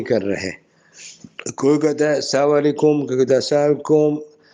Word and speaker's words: السلام علیکم: تو خوب سمجھ لیجئے کہ صحیح تلفظ ہے السلام علیکم. اور دوسرا طریقہ بھی درست ہے، وہ کیا ہے؟ سلام علیکم.